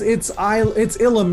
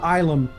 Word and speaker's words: Ilum: Oh, it's Ilum, not Ilum. That's yeah, I had that thought, and I was like, oh, that's okay. No worries. Hyperbolized. Yeah, but it is Ilum.